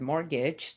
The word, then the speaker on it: mortgage: And fun, not very fun fact about the word mortgage, that the word is actually French and the silent T is there because the the word is French and the word mort in French means death.